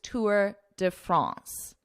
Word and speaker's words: Tour de France: pronounce the title the way that most people pronounce it which is Tour de France the tour will kick off outside France for